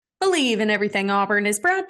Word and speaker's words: BLEAV: You just have to use our promo code BELIEVE, and that is spelled BLEAV, and that will get you your 50% welcome bonus on betonline.ag, where the game starts.